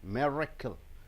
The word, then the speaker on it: miracle: See, 3 beats are there. Miracle. Ga, ga, ga. Miracle. So being the noun, you have to stress on the first sound.